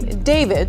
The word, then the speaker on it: D4vd: The car, which was a Tesla that belonged to a singer and Queens native who goes by the name David, spelled with A4.